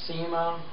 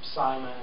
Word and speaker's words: Syma: It's actually the SEMA, or SIMA as some people pronounce it, S-Y-M-A, and it's the S-109 model, and it's a little infrared, three-channel, little mini helicopter.